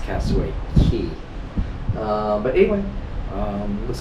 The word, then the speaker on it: Castaway Cay: c k uh cway key c a y pronounced cway key um but anyway um looks like a beautiful